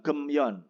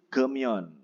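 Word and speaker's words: 금연: Jadi bukan gemyon, tapi gemyon.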